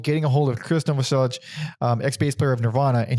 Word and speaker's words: Novoselic: I always said Novoselic. That's what I said too for years, and then I heard people saying Novoselic. He's like fucking Danish or something. Croatian. There we go, Croatian. Yeah, it's probably with some pronunciation that is beyond our American tongue, but maybe Novoselic, whatever.